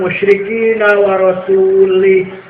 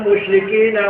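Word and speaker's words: المشركين: Quran Innallaha barium Minal musyrikul artinya allah tidak melindungi orang musyrik dan Allah tidak melindungi rasulnya Salah Benar apa salah salah salah yang benar bacanya Innallaha barium Minal musrikina warasulah warasul fathah nasab artinya allah tidak melindungi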